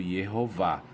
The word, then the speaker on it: Jeová: forte indicativo de que o nome de Deus era pronunciado Jeová então voltando aqui no